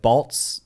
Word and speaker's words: Balz: It was always Balz, Bales, everything. Balz. So everybody intentionally pronounced it wrong because they didn't want to say Balz.